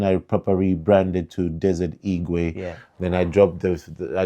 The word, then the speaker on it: Igwe: So it just caught on like Igwe. I'm like, oh, okay. That has a ring to it. So I was like, okay, Desert Igwe. Kind of makes sense. It still kind of rhymes with the eagle.